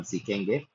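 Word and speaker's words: φι: जब हम इसका उच्चारण सीखेंगे। 21वें अक्षर को कहते हैं सी। अगेन इसको मैथमेटिक्स में फाई बोला जाता है बट इसका उच्चारण है सी।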